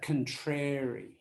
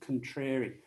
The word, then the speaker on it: contrary: now we pronounce that contrary so the stress is on the second syllable contrary i'm sure you've heard